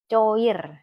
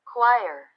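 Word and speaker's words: choir: kar kar atau apa coir bahasa Indonesia coir k iya coba nih dengarnya Ya dengerin quire quire bacanya qu bukan coir paduan suara jadi ini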